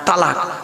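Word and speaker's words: طلاق: তালাক না কি বলে না এটা বাবা? কি দেয় বলুন না? হ্যাঁ, তালাক। খবরদার তালাক বলবেন না, তালাক বলে কোনো শব্দ নেই। শব্দটা হলো তলাক।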